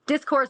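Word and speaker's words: Discovrse: Um but our um podcast is called discourse, but it's spelled with a V instead of a U cuz it's old English.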